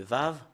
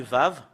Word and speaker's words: ו: C'est V qu'on le prononce. Voilà le fait de l'écrire en hébreu. C'est comme le prime, un peu bizarre. Et si vous voyez ce lettre, c'est Vav. Et le fait de le prononcer, c'est V.